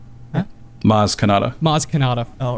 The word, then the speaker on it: Maz Kanata: He actually reminds Rey about the Force, and she remembers that Kazmadar? Huh? Maz Kanata.